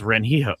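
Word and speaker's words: Rengifo: Uh by the way, on baseball reference, it says his pronunciation is Renho. Renhifo.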